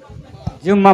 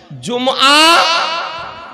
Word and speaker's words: জুমআ: জুমআ মসজিদ, জুমআ মসজিদ। আর কোনদিন আমরা জুম্মা মসজিদ বলবো না, জুম্মা আর কোনদিন বলবো না।